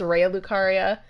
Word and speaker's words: Raya Lucaria: I say Raya Lucaria. I say that every time, but it's Raya Lucaria.